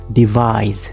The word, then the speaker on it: devise: Devise. Devise. It is ending with a buzz Z sound, okay?